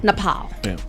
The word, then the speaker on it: Nepal: Uh so protesters um in in it's it's is it Napal? Is that how you say it right? Napal. Napal. Perfect. I wanted to make sure my pronunciation is correct.